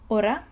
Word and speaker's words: hora: H in Spanish, and it is never pronounced. It does not have, you just ignore it. If you see it in the word, you ignore it. You don't pronounce it.